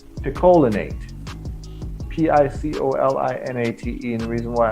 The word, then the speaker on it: picolinate: i recommend is called zinc either piccolinate is pronounced or picolinate p-i-c-o-l-i-n-a-t-e and the reason